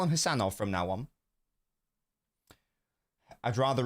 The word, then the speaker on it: Khusanov: How do I pronounce it, then? It's just Khusanov.